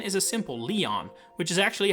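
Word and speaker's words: Lyon: well with a lot of possible ways to pronounce it. Lion has come up a lot, which is a very English way of putting it.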